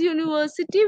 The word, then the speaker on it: university: But when we pronounce it, we say it as university, which gives us a sound of a consonant, that is Y.